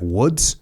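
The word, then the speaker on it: Łódź: time in the State security police HQ at Loz did you say it's like Woods is that what you said wood w that's so that's how you pronounce it yeah W yeah but like yeah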